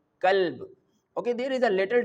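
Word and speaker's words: كلب: Okay, but if we comes to this word which is starting from the simple and thin kaf, we can pronounce this word like kalb.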